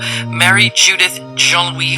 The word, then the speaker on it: Marie-Judith Jean-Louis: Marie-Judith Jean-Louis founded the group, and she's with me now. Hello. Hello. Did I say her name right? Yes. Okay, good. It's a French name, so it's a I